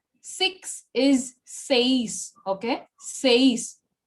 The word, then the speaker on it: seis: Six is seis. Six is seis. Okay. Seis. The focus is on E, not on I.